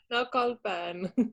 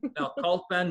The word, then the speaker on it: Naucalpan: Can you pronounce this for me, Stephanie? Naucalpan. Naucalpan, Mexico.